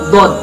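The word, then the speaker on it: ض: Yang ke-15 yaitu huruf dod, pelafalannya do.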